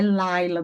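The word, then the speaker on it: לַיְלָה: Vai mudar na pronúncia, professora? Eu vou parar aqui no lá para demorar uns segundos para depois pronunciar o outro lá? Não, não, mas você precisa entender dessa pausa. É Laila, do mesmo jeito, Laila, ok?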